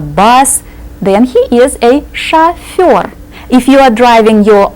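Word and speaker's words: шофёр: Sha Sha means what think of an English word that has a similar sound Sha chur or a professional driver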